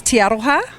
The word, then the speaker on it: Te Aroha: Just pronounce the town again for me. It's Te Aroha.